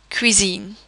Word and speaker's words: cuisine: However, a C would be pronounced as a K when it is followed by the letters A, O or U. For example, cuisine.